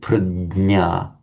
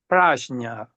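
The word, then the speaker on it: prajñā: pronounce it and pragna pragna but I'm not sure for instance my teacher at the university he insist sometimes he pronounce praa becauseuh he wants to stress the fact that different way of uh different uh um letters uh in at the beginning in Sanskrit had a different sounds.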